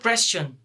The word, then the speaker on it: question: And for example, if before these four letters here comes S, the correct pronunciation of these four letters will be chun.